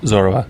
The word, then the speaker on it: Zorua: Zorua.